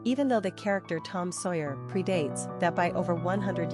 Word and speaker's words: Sawyer: Pronunciation, Sawyer.